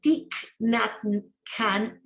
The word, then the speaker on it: Thich Nhat Hanh: acaba de perderse es ese tic khan aunque se escribe y matan nace el 11 de